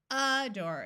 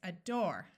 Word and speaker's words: adore: Did you remember to accent the second syllable? It's not adore, it's adore. It's not aback, it's aback.